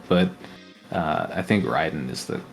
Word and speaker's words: Raiden: be brought back up the most official pronunciation for that that I can think of is Metal Gear Solid yeah they pronounce it Ryden yeah they do pronounce